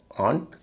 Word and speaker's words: aunt: एक है आंट, AUNT, आंट, और दूसरा है LAUGH, लाफ। लाफ और आंट, इसमें एयू का उच्चारण आ होता है, और नहीं होता। इसे लॉफ या ऑन्ट नहीं कहेंगे।